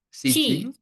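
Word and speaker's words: 知人: Cijing. Cijing. Oh cijing. Ci ya. Dia jadi ci cijing. Jadi ci bukan syi.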